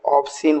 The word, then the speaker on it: obscene: तो आप देख रहे हो ऑब्सीन बोलेंगे ये सबको, लेकिन एस का प्रोनाउंसिएशन नहीं बोलना, दैट इज कॉल्ड ऑब्सीन।